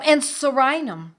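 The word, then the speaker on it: Psorinum: And sorinum. Sorinum is spelled P-S-O-R-I-N-U-M, P like in pneumonia.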